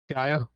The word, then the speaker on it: Gaia: Something about Gaia. Gaia? Yeah. Really? That's how you say it. Gaia. Gaia? Not Gaia. It's Gaia.